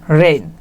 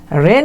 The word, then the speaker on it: reign: ইংরেজিতে যেটা হচ্ছে REIGN, রেইন। রেন মানে কি, রেন মানে হচ্ছে রাজত্ব, না নিয়ন্ত্রণ না, রেন মানে হচ্ছে রাজত্ব, REIGN, এটা মনে রাখবেন। এটা রেন থেকে মানে একই একই উচ্চারণ, তো তাই বলে দিলাম।